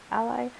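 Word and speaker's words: a11y: there's a suite called ember Ally testing that's spelled a 11y Ally that lets you run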